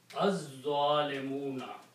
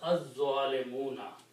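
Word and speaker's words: الظالمون: of lam, it becomes az-zalimuna. Okay, so you don't pronounce this lam, but you pronounce this za twice, so that's the reason you put a shadda there. It's az-zalimuna.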